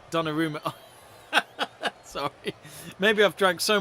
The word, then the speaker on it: Donnarumma: Why you say diorama? I don't know. How do you say? Donnarumma.